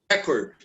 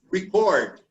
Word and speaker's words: record: The noun is pronounced always with the first syllable stressed, like record. Okay? And the verb receives the stress in the second syllable. Like the noun here and the verb is record. Okay? Like here we say transfer and the verb is transfer.